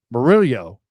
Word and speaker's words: Murillo: You have to roll the R and end with yo. So Murillo.